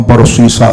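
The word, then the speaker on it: برصیصا: قوم بنی اسرائیل میں ایک شخص تھا جس کا نام برسیسا تھا. یہ جو جب ہم برسیسا کہتے ہیں تو یہ صاد سے ہے.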